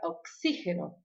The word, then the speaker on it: oxígeno: Então, por exemplo, relacionado ao hospital, tem a palavra oxígeno. Oxígeno parece oxigênio, mas a sílaba tônica é diferente, né?